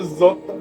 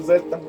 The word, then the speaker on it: zeta: How do you say Z in Spanish? Z. No, Zota. No, Zeta.